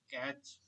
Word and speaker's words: cache: cache, C-A-C-H-E, Uh, C-A-C-H-E. okay, So okay, different okay. people pronounce it differently. Some people say cache, some people say catch. So I say cache memory.